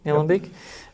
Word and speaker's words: Nillumbik: To the northeast in Nillumbik, LGA, is that how you pronounce it? Yeah, Nillumbik.